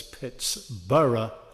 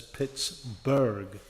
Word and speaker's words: Pittsburgh: You're all pronouncing it the incorrect way. Cuz this town was named as Pitts-burra by the people from Scotland at that time.